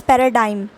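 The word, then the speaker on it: paradigm: confused with this ji you have to pronounce this word as पैराडाइम पैराडाइम जी is silent in this word second word है आपका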